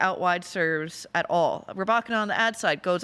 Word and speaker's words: Rybakina: Not sure I've heard a good player like her have her name mispronounced so many times. Rybakina, the umpire calls her something. I just say cleanly Rybakina. But that's the one last name you can get right.